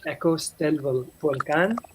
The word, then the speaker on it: Ecos del Volcán: So Charles Fairbanks, our film, we pronounce it as Ecos del Volcán, or Echoes of the Volcano.